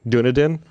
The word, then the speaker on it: Dunedin: I'm excited to see what he creates, and apparently he's the town he's in New Zealand is I'm going to butcher it, Dunedin.